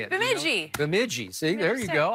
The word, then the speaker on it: Bemidji: Bemidji.